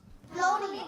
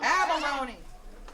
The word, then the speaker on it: abalone: It starts with an A, and it rhymes with Ohlone. Baloney. Close? Baloney. Abalone.